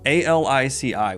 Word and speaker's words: Alici: It's spelled A-L-I-C-I, which I think is Alici, right, Kayla? A-L-I-C-I. Would you say that, Alici? Okay, yeah, we're agreeing on Alici.